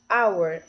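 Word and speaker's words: hour: se vocês repararem bem our né que é hora mesmo que começa com H tem um h silencioso então a gente não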